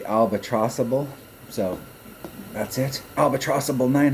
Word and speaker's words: Albatross-A-Ball: in the albatrossable albatrossable i kept pronouncing it albatross a ball but thunner has pointed out that they're probably trying to do the albatrossable so that's it albatrossable